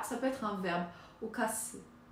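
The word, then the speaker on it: 冒: Donc, ce kanji, qui se prononce, il n'a pas de signification seule. Ah, ça peut être un verbe. Okase. Okase.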